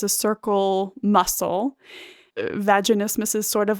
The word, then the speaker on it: vaginismus: know that have and i always pronounce it wrong but vaginitis vaginismus vaginismus that's it yeah incredibly common for women